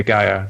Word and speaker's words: Gaia: Do you know how that's pronounced? Yeah, Gaia.